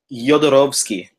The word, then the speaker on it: Jodorowsky: Jodorowsky. Jodorowsky. Jodorowsky. It's a soft J, and the W is like a V because he's from Chile, but his father is Polish.